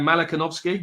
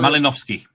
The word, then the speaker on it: Malinowski: exceptionally greedy, then Mal Mal, how do we pronounce his name? Malikovski. Mal Malinowski.